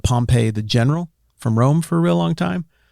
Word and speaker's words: Pompey: That's the town. The town is Pompeii. The general, Gnaeus Magnus Pompey, is Pompey.